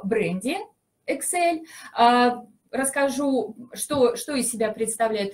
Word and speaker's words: Exell: Фабрики проверенные, они действительно следят за качеством производства, и поэтому в продукции Excel можно хорошо, Excel правильно говорить, можно, качеству можно доверять.